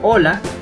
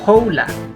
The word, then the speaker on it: hola: Recuerda pronunciar hola y no hola.